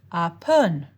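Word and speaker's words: แอปเปิ้ล: voice, and a falling tone starts higher than your speaking voice, rises a bit, then falls back below the pitch you started with. So the Thai word for apple sounds like this, apun.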